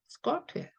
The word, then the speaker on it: skirt: skirt예요.